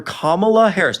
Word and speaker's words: Kamala Harris: Then call her Kamala Harris. Just pronounce her name correctly.